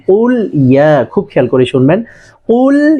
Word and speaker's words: قل يا: সেটা হচ্ছে, এখানে অনেকে কুলিয়া বলে, হ্যাঁ কুলিয়া না, কুল ইয়া।